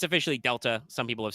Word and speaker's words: Delta: way it is pronounced Delta it's in like the the way Delta is used in mathematics for change over time um which makes me